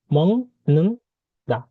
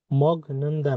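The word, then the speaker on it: 먹는다: তো মং নুন দা, মং নুন দা, মং নুন দা, এটার উচ্চারণ কি হবে মগ নুন দা না, এটার উচ্চারণ হবে মং নুন দা, মং নুন দা।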